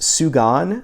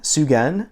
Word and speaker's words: Sugan: was Phil Woods's um how is it pronounced sugan Sugen s-u-g-a-n so this one was